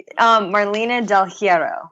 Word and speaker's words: Marlena Del Heirro: Marlena Del Heirro. Did I get that right? You say it for me. Yeah, Marlena Del Heirro.